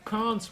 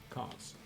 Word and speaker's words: Cans: But, so Cans would be the proper name to say it in English, I think. Hi, my name is Cans. That's Cans. how I say my name, Cans.